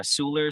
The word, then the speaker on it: Seweller: ep is on um it's on as a sooler so it's spelled s-e-w-e-l-l-e-r um and that's out of the